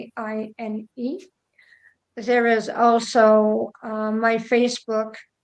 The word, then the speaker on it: Guylaine: Gillen, just like in French, in England, you pronounce it like Gillen, but it's Guylaine.